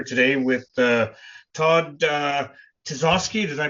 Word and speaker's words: Tisoskey: Um I'm sitting here today with uh Todd uh Tazoski. Did I pronounce that right?